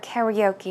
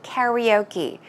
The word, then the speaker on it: karaoke: looking at the word karaoke and say why is she pronouncing the word like that actually well Americans pronounce that word karaoke karaoke is I think what we are say in Korea but we're basically referring